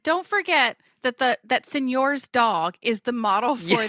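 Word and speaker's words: signor: Senor, but it's spelled s i g n o r. So, not like Senor, it's like it's like French. I guess the French version, but they all call him Senor.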